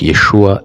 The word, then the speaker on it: Yeshua: et successeur de Moïse le nom était généralement prononcé Yeshua mais vraissemblablement yeshu dans la prononciation galiléenne vous voyez un peu